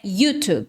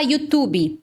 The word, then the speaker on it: YouTube: Em inglês, a pronúncia correta é YouTube. Como eu sou professora, eu sou mentora de inglês, então eu sempre acabo optando pela forma original, né? A pronúncia em inglês, YouTube. Agora, se você falar YouTube, tá errado? Não tá errado se você falar no português, porque YouTube é a forma aportuguesada de YouTube.